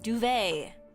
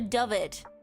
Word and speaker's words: duvet: Duvet. This is how people say it. Nobody calls it a dvet.